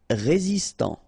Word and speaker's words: résistant: Résistant, final T not pronounced, résistant.